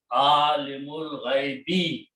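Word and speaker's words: عالم الغيب: And then we read it alimul ghaibi. We do not pronounce this alif in between. So it becomes hamzatul wasl. And the word is alimul ghaibi.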